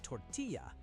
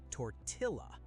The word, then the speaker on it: tortilla: Mistake number 13, the word tortilla. English speakers say "tortilla". Wrong. Same double L rule as quesadilla. Say "tortilla". "Tortilla".